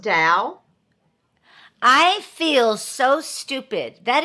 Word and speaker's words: Tao: and it's called the TOA comedy studio is that right Bobby yeah well actually it's pronounced Dow it's spelled Tao but it's pronounced Dow I feel so stupid